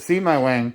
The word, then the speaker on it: Sebewaing: that's all right in the car you can pronounce it see my wang see my way yeah it's a uh it's a native american